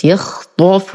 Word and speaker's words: يخطف: الآية 20 لدينا كلمة يخطف بفتح الطاء مع التفخيم، يخطف.